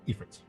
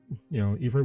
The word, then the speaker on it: Ifrit: Nope, because you had to put a party together to go fight Ifrit. Yes. Or Ifrit, depending on who you talk to.